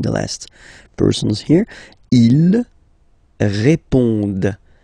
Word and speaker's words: répondent: Ils répondent. So same thing here, classic ending, ENT, but then you don't pronounce it. Okay? Répondent.